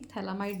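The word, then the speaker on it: phthalimide: तो यहाँ पर हम क्या लेते हैं, थैलामाइड लेते हैं। अमाइड ग्रुप आप सुन रहे हैं, थैलामाइड, अमाइड पीछे से आ ही रहा है, मोस्ट इज PH TH, ठीक है, यहाँ पे PH साइलेंट है।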